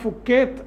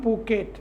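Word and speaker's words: Phuket: ഇത് AI flight 2379 പൂക്കേറ്റ്, PHU എന്നാണ്, ഫുക്കേത്ത് എന്നാണ് സാധാരണ ആളുകൾ പറയുമെങ്കിലും ഉച്ചാരണം പൂക്കേറ്റ് എന്നാണ് വിവരമുള്ളവർ പറയുന്നത്.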